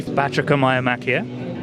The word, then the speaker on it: Batrachomyomachia: So it is based on an ancient Greek story, which is called, I will ask David to pronounce it for me, Batrachomyomachia, and Crumb Snatcher is on an adventure that